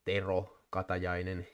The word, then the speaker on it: Tero Katajainen: So Tero Katajainen, which is pronounced Tero Katajainen in Finnish, and then there's Mikko